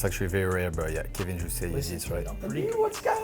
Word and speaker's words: Kevin Jousset: So Kevin Jousset, I did pronounce that correctly. You did, that's actually very rare, but yeah, Kevin Jousset, you Listen did, to me, right?